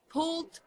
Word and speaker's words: pulled: so it's gonna be pulled pork d D perfect paint thanks for